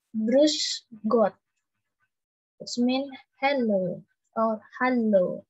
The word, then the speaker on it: Grüß Gott: Di sini ada yang namanya beta sign. Di sini kayak huruf B ya, tapi dibacanya double S, jadi kayak S. Grüß Gott.